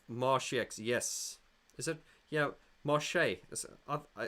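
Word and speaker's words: Marsheaux: Yeah, Marche. Marchex, but it's pronounced Marche, I think.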